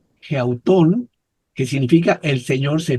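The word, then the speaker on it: ἑαυτόν: Ya no es autón de alguien más, ahora es geautón. tiene espíritu rudo aquí, geautón, que significa el Señor se ve a sí mismo.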